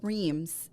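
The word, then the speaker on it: Reims: yep so we're going to an area called Reems it's spelled r-e-i-m-s and um I'm going to tell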